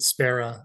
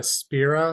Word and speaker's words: Spera: Yeah, I always pronounce it Spera. I think it is Spira since it's Latin for hope, but Yes. I used it as a place name and I pronounce it as Spera.